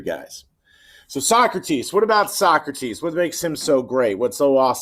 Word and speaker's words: Socrates: some of the great less well-known philosophies are so crates or his real name is actually pronounced socrates but if you guys ever watch